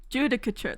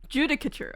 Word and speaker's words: judicature: Google you got this Ros judicature that's British apparently judicature okay got it the Supreme